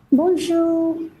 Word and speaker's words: bonjour: Pronunciation. Bun bunju. Bonjour.